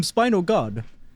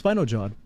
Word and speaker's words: Spinojod: we were calling him Spino God, but apparently it's Spinojod.